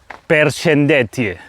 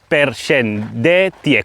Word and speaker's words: përshëndetje: Look, hello is "përshëndetje". A word "përshëndetje". Four syllables to say hello.